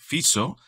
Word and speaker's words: Fico: el Primer Ministro Robert fizo ojo se escribe fico pero se pronuncia fizo y que ha tenido